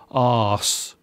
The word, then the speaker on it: arse: Another swear word that is seen as being tame is ass, or as we pronounce it here in England, arse.